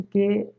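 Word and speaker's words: car: लेकिन इसका real pronunciation क्या होगा? का, सिर्फ का, र नहीं बोलना है।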